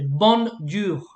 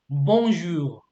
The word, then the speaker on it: bonjour: the good morning like many people they say bon ju no it's not bond you it's bonjour so you don't press the end yeah all right